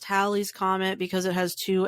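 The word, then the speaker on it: Halley: Comet is actually pronounced Hal's Comet because it has two L's it's it's it's pronounced like Valley Hi I'm Haley um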